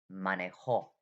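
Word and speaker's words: manejó: word and the pronunciation money hole okay the the accent is on the last vowel money hey money whole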